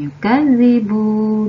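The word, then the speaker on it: يُكَذِّبُ: Pada ayat 1 di sini ada kata allazi, kemudian yukadzibu dan bidin. Kalian bacanya agak ditekan ya, karena ada tanda tasydid atau harokat tasydid.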